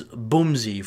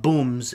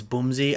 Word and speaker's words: Boomzy: It's Boomzy. For those that don't know, it's Boomzy, not Booms. It's Boomzy. I know it's not how it looks, but that's how it's pronounced.